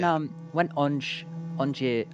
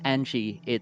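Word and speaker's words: Ange: about the pronunciation because, while in English that name would be pronounced Angie, it's from French, and the katakana like writing of it in game does use the French pronunciation, which is actually interesting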